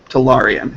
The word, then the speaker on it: Talarian: Talarian. It's an ah, Ah. not an air.